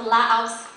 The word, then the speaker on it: Laos: you bring out the Laos from the house oh or ask as you learn to say because there's no s in the proper pronunciation um let me just